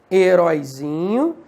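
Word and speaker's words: heroizinho: Heróizinho, economicamente. Porque a sílaba tônica muda de posição.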